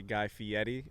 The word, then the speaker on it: Guy Fieri: guy fieri who then corrected dave to say guy fieri i guess that's the correct way to say